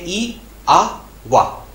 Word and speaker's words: IAVA: लिखते हुए हम इस सिंबल की स्पेलिंग लिखते हैं IAVA, लेकिन बोलते हुए हम इसको बोलते हैं ई आ वा।